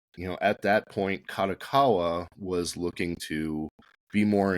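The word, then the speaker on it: Kadokawa: At some point, Yin Press itself goes from being owned by Hashet to being sold to Kotakawa. Am I getting that right? Uh, it's Kadakawa. Kadakawa, excuse me.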